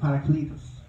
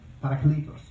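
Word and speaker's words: παράκλητος: In Greek, this word is pronounced parakletos, parakletos, the paraclete.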